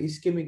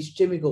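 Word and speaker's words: ischemic: ইসকেমিক attack, প্রাথমিক heart অ্যাটাককে বলা হয় ইসকেমিক heart attack, ইসকেমিক attack. কিন্তু ইসকেমিক, কেমিক বানানটা সিএইচ দিয়ে, এই জন্য অনেক ডাক্তার এটাকে ইসচেমিকও বলে, কিন্তু আমি ইসচেমিকের পক্ষপাতী না।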